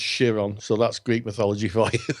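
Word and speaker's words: Chiron: in Greek mythology there was a cental called Kiron or shiron it's actually it's actually spelled Kiron but pronounced shiron so that's Greek mythology for yeah and um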